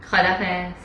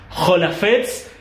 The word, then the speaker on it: خداحافظ: Jolafets. Jolafets, ¿está bien?